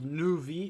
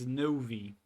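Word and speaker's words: Neuvillette: It's not Nuvi, it's Novi. There is an E in there.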